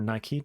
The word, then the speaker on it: Nike: So I don't invest in Nike, or Nike, depending on your pronunciation, but they had an incredible fourth quarter.